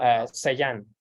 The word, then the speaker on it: Sellán: Okay, what's your how to pronounce your Sellán. Yeah. Yeah. Is that the French? It's Spanish. Oh, Spanish.